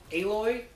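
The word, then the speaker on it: Aloy: I just can't wait a boy I think is how they pronounce it not alloy because there's only 1l the main character's name oh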